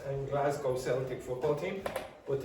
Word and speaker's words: Celtic: But if you're describing the culture, you would say Celtic. And the reason you do that, usually in English, CE is pronounced S. But the reason this is K is because it comes from the Irish language.